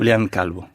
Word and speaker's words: Julián Calvo: Oui, Comment vous le prononcez à l'espagnol? Julián Calvo.